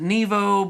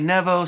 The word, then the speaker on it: Nevo: or something like that they say sometimes people pronounce it nevo but it's really nevo so i'm going to say nevo just out of respect for them but i've